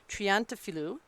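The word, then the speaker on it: Triantafilou: And the correct pronunciation is Triantafilu.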